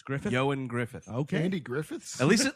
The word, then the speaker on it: Ioan Gruffudd: It says his name is pronounced Ioan Griffith.